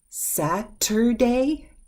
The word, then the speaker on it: Saturday: what about this one Saturday Saturday oh we softened that T sound Saturday saturday Saturday I